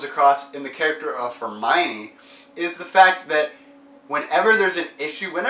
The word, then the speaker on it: Hermione: in the books and I finally realized that Hermione is pronounced that way when the movie first came